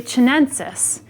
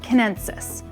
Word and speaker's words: chinensis: But in Latin, it's often pronounced with a K sound. So sometimes I'll naturally say Chinensis because I'm accustomed to pronouncing the country of China, but it's more like Kinensis.